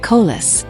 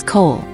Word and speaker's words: Cole: He deliberately mispronounced the name, making it sound like Kol. Elias ignored the slight, his posture a study and calm. My apologies, your honor. The name is Cole.